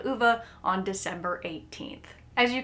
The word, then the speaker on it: Ove: and I was specifically told that it is pronounced UA and not o as I originally thought so I want to make sure that I say the correct name UA is this old crotchety man who believes that